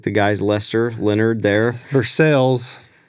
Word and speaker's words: Versailles: Versailles, not Versailles, like in France. Spelled like the French place, but it's in Missouri, so it's not said like that.